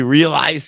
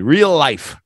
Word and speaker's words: realize: I've got more money realize realize sounded like you said real life Lily Realize Real Lies yeah all right all